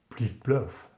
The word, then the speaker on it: pliff-ploff: This is Renaissance French for clippity-clop, and it is of course pronounced pliff-ploff, which is much more stylish than Anglo-Saxon clippity-clop, because the French are of course more stylish than us in everything.